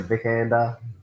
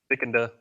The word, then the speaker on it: Vikander: It stars Michael Fastpender and Alicia Vikandanda. Vikander, how you say her name? Vicander.